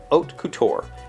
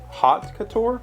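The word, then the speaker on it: haute couture: h-a-u-t-e-c-o-u-t-u-r-e i would not i would have pronounced that hot couture not oat couture i guess is that a french thing like you just oh h a u is an o sound that's what the pronunciation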